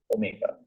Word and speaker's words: Omega: tells me but S I saw wal so you know the confusion is like you know Omega W confusion the same thing and the right pronunciation is what Omega okay W so w